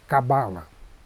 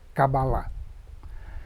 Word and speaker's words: Kabbalah: mesmo equívoco que você elas pronunciam cabala mas a pronúncia correta é kabbalah e é Existem várias